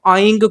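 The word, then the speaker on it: ऐं: अपनी पूर्व जन्म की स्मृतियों को आप जानना चाहते हैं तब भी आप आइंग को ही इस्तेमाल करेंगे, यानी कि जो बिंदी है उसको गा के रूप में ही उच्चारण करेंगे, क्योंकि ऐसा माना जाता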